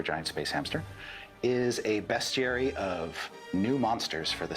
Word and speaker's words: bestiary: For instance, there Bestiary? are Is that how you space pronounce that? clowns. How would you pronounce it? Bestiary. No. It's bestiary? That is, Okay, fine. it's beast is with an EA and bestiary is just with an E.